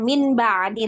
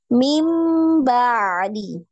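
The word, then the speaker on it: من بعد: Nah, maka kita bacanya bukan min ba'di lagi tapi mim, berubah bunyinya ya. Mim ba'di ya.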